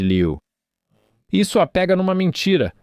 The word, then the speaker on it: Lieu: Acho que isso aconteceu enquanto estávamos gravando, e sim, acho que se pronuncia Liu, Ted Lieu.